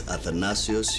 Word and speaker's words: Athanasios: Isn't it Athanasios? Or am I pronouncing it wrong? It's Athanasios.